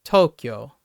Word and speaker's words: Tokyo: Most people would say American speakers would say Tokyo, but it's Tokyo. It's the first syllable, and like Kyoto, Kyushu, instead of Tokyo, Kyoto.